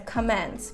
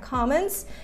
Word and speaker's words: comments: Обратите внимание на ударение. Многие часто делают ошибку, говорят comments. Правильно, comments.